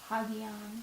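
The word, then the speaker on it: ἅγιον: Just a rough breathing mark. Hagion.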